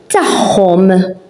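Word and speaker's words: tagħhom: Tachom, tachom, it's theirs, and as you can see, as you can hear, ein and akka, we pronounce it as an h.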